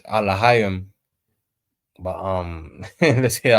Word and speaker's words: Elohim: Now obviously it's Alahayim, but let's hear how they pronounce Elohim. Elohim.